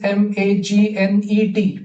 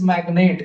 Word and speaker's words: magnate: One is magnete, magnet, and one is magnate, magnate. So हा जो आहे तो magnet आहे, nate. You look at the pronunciation, magnate. So like आपण म्हणतो ना pen, pen, आणि pain, pain.